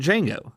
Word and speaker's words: Django: what you think of D Jango Unchained the movie D Jango Unchained is about a young slave named D Jango the D is silent and his partner in